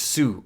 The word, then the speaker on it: す: す pronounced like the words ‘sue’ or ‘su’ in ‘suit’ See the swing doing a loop-dee-loop and throwing that poor kid off of it?